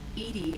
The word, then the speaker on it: EDI: airlock is ajar why are you named edie edie is the phonetic pronunciation of edi that is an acronym for